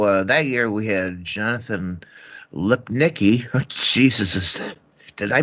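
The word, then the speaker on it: Lipnicki: say so so uh year we had Jonathan lip Nikki Jesus is did I pronounce that right you did he was um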